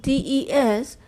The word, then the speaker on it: des: And of course, the S is silent. So DES is for the plural, like in the to be used in a plural sense.